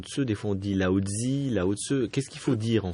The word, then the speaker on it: Lao Tseu: osé dit voilà donc ça s'écrit comme ça ça se prononce lao tseu donc voilà le leuy se prononcent eux donc la transcription voilà